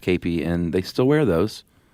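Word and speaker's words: kepi: Spelled K E P I pronounced Kapy.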